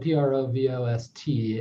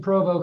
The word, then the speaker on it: Provost: his name is spelled p-r-o-v-o-s-t and i i think i've heard you pronounce it as provo and leave the st off is it provo or provost it's actually provo but it's when you're